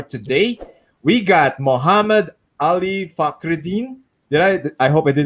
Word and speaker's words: Fakhreddine: In Arabic, it's Fakhreddine.